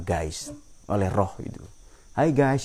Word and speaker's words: Geist: Ini semua yang ada ini diatur oleh ada yang hakiki namanya Geist, atau tulisannya ya, bacanya dalam bahasa Jerman Geist, oleh roh itu.